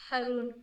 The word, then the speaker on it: Harun: Harun.